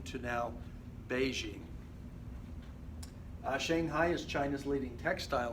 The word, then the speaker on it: Beijing: The Chinese people probably started a movement to change the spelling to more closely match the way it is pronounced. So it went from Peking to now Beijing.